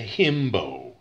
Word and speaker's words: himbo: if it's a man it's known as a himbo h-i-m-b-o rhymes with bimbo which is the female